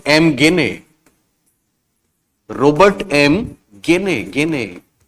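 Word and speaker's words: Gagné: और ये देने वाले हैं रॉबर्ट एम गेने, रॉबर्ट एम गेने, रॉबर्ट एम गेने, गेने। कई बार इनको हम गेगने भी पढ़ते हैं, एक्चुअली इनका नाम है GAZNE, गेगने। रॉबर्ट एम गेने, रॉबर्ट एम गेने।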